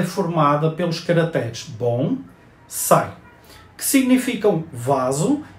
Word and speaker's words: bonsai: japonesa como Samurai a palavra bonsai pronuncia-se como a sílaba tônica em sai ou seja bom sai ela escreve sem acento